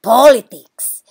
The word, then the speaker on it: politics: the don't get confused with the word politics where you have to stress the first syllable when did you get